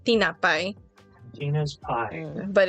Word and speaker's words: tinapay: you're saying it correctly in terms of like the phonetic sounds, but where the accent is, tinapay. The word is correct, but your spirit is wrong.